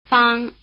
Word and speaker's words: Fāng: Fāng, Fāng, Fāng Notice that the vowel sound "a" is spelled with the letter A as in Okinawa.